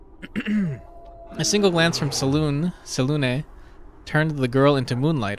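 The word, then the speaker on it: Selûne: the gemstone's characteristic purple heel soon is apparently pronounced sunnah strange i used to have the the book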